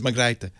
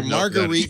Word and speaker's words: Margrethe: So I was wrong about the I. No, actually, it was Margrethe. Oh, forget it. We're going to call her Marguerite Vestager.